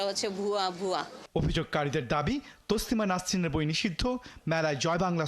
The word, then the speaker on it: তসলিমা নাসরিন: চাষী এবং দেখুন এবার তসলিমা নাসরিনের নামটি তারা কিভাবে উচ্চারণ করে আমরা খবর পাই যে তাসলিমা নাসরিনের বই পাওয়া গেছে তাসলিমা নাসরিন নয়রে মোল্লা তসলিমা নাসরিন যার বিরুদ্ধে দাঁড়িয়েছো তার